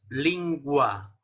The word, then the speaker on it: lingua: La G-U siempre se va a pronunciar la U, lingua, ¿no? Como en español, lingua latina, ¿no?